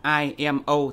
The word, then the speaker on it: IMO: Anh và tiếng Việt thực ra tiếng Anh thì đọc đúng là ai em âu thì mới đúng còn tiếng Việt thì